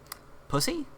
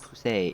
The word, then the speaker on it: Poussey: Pussy? It's pronounced Poussey. It's French.